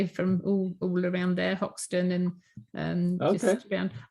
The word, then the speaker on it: Hoxton: I didn't know that the place was actually spelt with an H, because they're East End. You know, fog limey, salt of the earth governor and all this business, you know. And I thought it was Oxton, but it's only in